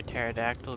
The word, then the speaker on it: pterodactyl: can't you hear a pterodactyl going to the bathroom i i don't know why because the p is silent i